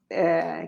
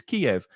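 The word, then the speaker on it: Kyiv: Well, all my life I thought it was Kiev with two syllables. Kiev, and maybe you've eaten chicken Kiev, which is a lovely meal of chicken with cheese and breadcrumbs. Kiev. It was always Kiev. Suddenly, it's now pronounced on the news Kiev. With just one syllable.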